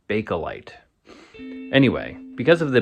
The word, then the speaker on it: Bakelite: Some people, how do you pronounce bakeite? People, my neighbor said bake light, but I've always said balite.